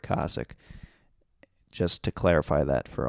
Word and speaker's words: Kosick: I find out afterwards that Tony Hinchcliffe has been saying his name wrong for a long time. I talked to Rick on the phone, and I was like, which one is it? Because I heard Wee Man at one point say Kosick, and I've been saying it wrong the whole time. So it is Rick Kosick.